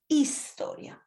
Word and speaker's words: historia: chemica historia at times the historia they aspirate the h and is the h is never pronounced in spanish it's historia some candidates repeated the